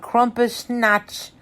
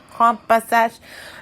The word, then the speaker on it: Krampusnacht: It actually came from Germany, or one of them is the one depiction, and it's called Krampusnacht. How do you say that? Krampusnacht.